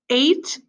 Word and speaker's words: eight: down and go across eight is e IG HT it does not sound like it's spelled okay the EIG H makes the a sound all right let's try